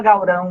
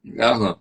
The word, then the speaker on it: Galrão: Aí você falou, Zé, esse encontro consonantal não é, em português não se pronuncia assim, é Galrão.